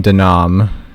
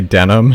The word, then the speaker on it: Denim: I'm not gonna lie, back when I first played this game, I always pronounced his name Denom. But hearing him say Denim, it's literally just Denim.